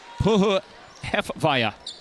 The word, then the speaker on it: Puhuhefaya: Somebody had sent me a phonetic kind of spelling of it a few days ago. And that's what they said. Puhuhefaya.